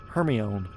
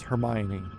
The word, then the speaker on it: Hermione: It's just like um when I read Harry Potter as a kid, um I always read the girl's name is Hermione, but it's Hermione.